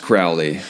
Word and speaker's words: Crowley: so the question that I have is it's pronounced Crowley next question is the alizarin he use everything